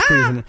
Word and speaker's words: Cuisinart: It's Cuisinart.